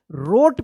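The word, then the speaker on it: wrote: डब्ल्यू आता है तो क्या होता है डब्ल्यू साइलेंट रहता है तो बताइए क्या पढ़ेंगे इसको हम तो बता ही दिए रोट पढ़ेंगे रोट डब्ल्यू आर ओ टी ई रोट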